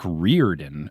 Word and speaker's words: Riordan: And apparently it's like Rick Reirden according to Google.